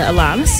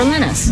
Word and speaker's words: Alanis: It can be either Alanis or Alanis. Okay.